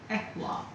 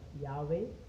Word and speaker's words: YHWH: It is called Ehwa. Ehwa. Ehwa. What is the pronunciation? We pronounce it as Yahweh or Yehovah, but it's Ehwa.